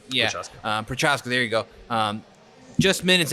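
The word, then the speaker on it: Procházka: Prochaska? Yeah, Prochaska.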